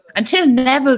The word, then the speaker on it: Neville: Like the name Neville is the most innocuous sounding name, and yet it rhymes with devil.